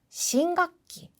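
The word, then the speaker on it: 新学期: 언제부터야라는 거를 미리 얘기해 줍니다 같이 볼게요 아빠 심각기 발음 주의하세요라고 짧게 불러주시면 됩니다 그래서 새 학기가 말이야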